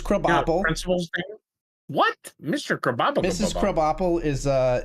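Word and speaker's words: Krabappel: Principal Skinner Mrs kop Principal what Mr kab KB apple is uh it's spelled crab apple but it's pronounced KB Apple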